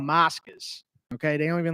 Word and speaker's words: Moscas: Moscas. Mascus. Moscas. Check it out, bro. Can you spell it to me?